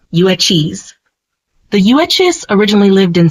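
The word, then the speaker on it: Yuezhi: of a bigger tribe called the uchis pronounced uis the uis originally lived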